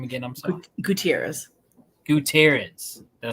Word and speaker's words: Gutierrez: I say your last name again I'm sorry Gutierrez Gutierrez did I say it right or I